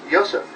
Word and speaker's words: Yosef: This is Yosef. Sound it out and that's what you hear.